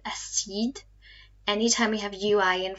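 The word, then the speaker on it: acide: our cognate here but it's not pronounced acid but a seed anytime we have ui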